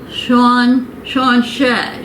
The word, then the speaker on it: sláinte: And I think it said Sean Shay.